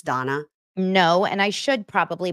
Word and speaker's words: Dana: of Donna you guys it's spelled D na a like Dana but it's Donna I also have a